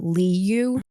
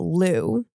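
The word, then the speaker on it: Liu: before she retired and now it's pronounced Alyssa Lou interesting the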